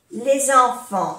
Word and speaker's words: les enfants: Les enfants, aquí hacemos la unión. Les enfants. Les enfants. No se pronuncia la S de plural.